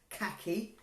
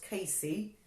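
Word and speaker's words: CACI: heard of a kc some people call it a khaki but it's actually pronounced Casey now Casey works on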